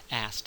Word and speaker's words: asked: takes one out and many English speakers will pronounce the past tense of ask as asked um if if you don't believe me listen to someone talking and you'll probably hear that there's no K there at all asked there